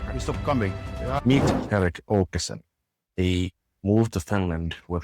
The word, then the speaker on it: Erik Åkesson: So with Erik Åkesson, am I pronouncing it correctly?